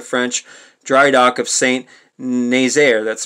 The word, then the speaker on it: Nazaire: raid on the french dry dock of saint naysayer that's spelled n-a-z-a-i-r-e the raid on the french dry dock of